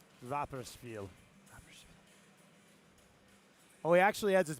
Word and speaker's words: Rapperswil: Rapperswil? Rapperswil.